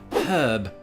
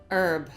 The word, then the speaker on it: herb: Um the dropping of the H is something that we also did in England centuries ago, but when that became socially unacceptable in the higher echelons of society, um we stopped doing it and then thereafter criticized Americans for doing it.